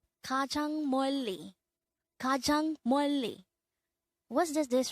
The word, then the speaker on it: 멀리: 멀리. 멀리. This is pronounced as a two-syllable word.